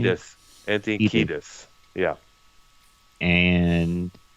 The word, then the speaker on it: Kiedis: Kiedis.